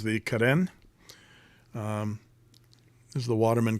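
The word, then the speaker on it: Carène: pen and of course I pronounce it Kaden uh it has um that aant gav over the e did I say that right axant gav um and so I think that's the pro proper pronunciation of Kaden says the guy with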